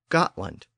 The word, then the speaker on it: Gotland: But there's also a large island to the east of the peninsula called Gotland, spelled G-O-T-L-A-N-D. So even though the names of the two regions are pronounced differently today, they have almost identical spellings.